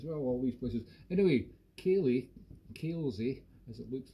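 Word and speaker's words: Kailzie: and i was like kaylee spelt k-a-i-l-z-i-e which is i know an unusual pronunciation but that's the way it goes in scotland sometimes think about kirkubri ha ha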